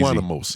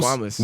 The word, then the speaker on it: squamous: Squanimous. I bet. Now, There's no N there. Can you pronounce this? Squamose. Squamous. Where are you getting? Squamous. Yeah. It's squamous. Where are you essentially. getting the Squamous Menace?